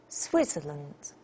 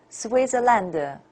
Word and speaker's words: Switzerland: And this one, Switzerland, Switzerland, not Switzerland.